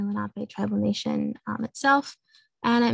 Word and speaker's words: Lenape: on how it's pronounced, but it's Lenni with a long I, and then Lenape. People sometimes try to suggest a Lake Lenape, but that's, again, a different pronunciation. That's not the correct one.